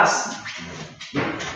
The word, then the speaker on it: us: Pero luego del verbo está el us, una U y una S, pero que se pronuncia as, como los completos as, tal cual, as.